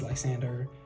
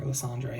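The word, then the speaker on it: Lysandre: The D R E. It makes me want to say Landre. But yeah, it's probably Landre than our secret rares.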